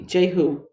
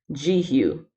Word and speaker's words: Jehu: people get starstruck at their golden Oh see Jehu oh I've been saying his name wrong it's jeehyun jeehyun I do not know